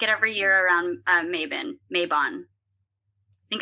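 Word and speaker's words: Mabon: i make it every year around maven mayban i think it's actually i read i listened to a podcast today and the dude was like it's pronounced maebon please stop but i make it i make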